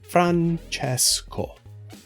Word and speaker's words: Francesco: My name, again, is Francesco, and it's pronounced like this, Francesco.